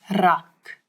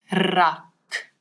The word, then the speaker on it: rak: a little bit, and it's the rrr, as if your tongue is jumping up and down in your mouth. Rrr, rak.